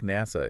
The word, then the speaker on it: NASA: you're right there is an acronym like NASA is pronounced as one word right right and initialism